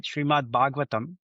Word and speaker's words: Srimad Bhagavatam: Srimad Bhagavatam is the name of the other book, which is many volumes.